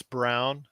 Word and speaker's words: Braun: like a rookie like Chris Braun Chris Brown spelled like Braun coming off the bench